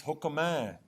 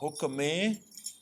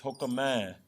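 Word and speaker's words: ਹੁਕਮੈ: The fourth one is hukmai. Notice the pronunciation here. It's not hukmee, it's hukmai.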